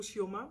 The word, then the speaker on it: Chioma: Kioma ou Shioma, mais je pense que c'est Kioma qu'on prononce.